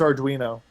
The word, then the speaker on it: Arduino: pi and is it adino how do you pronounce that Allan I believe it's Arduino that was I got the first syllable right